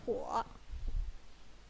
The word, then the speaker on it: 火: Yeah, the pronunciation is 火.